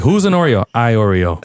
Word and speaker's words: Iorio: Iorio. Like the Oreo cookie.